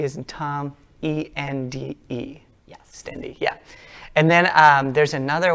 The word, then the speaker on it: Stende: Stende, yeah.